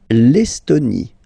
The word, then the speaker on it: Estonie: L'Estonie, final E, not pronounced.